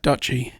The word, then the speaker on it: Duchy: How do you pronounce that? Duchy. Duchy? I would imagine. If somebody called me Dutchy, I'd probably knock their teeth out. Well, I mean... Duchy. I would prefer Duchy of Lancaster. That sounds better.